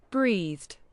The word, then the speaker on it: breathed: do it this way breathed breathed sorry it it was louder than I expected breathed so we don't pronounce the E you have breathed fresh